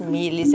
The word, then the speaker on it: Milis: Milis é M-I-L-I-S, tá? Assim como se pronuncia.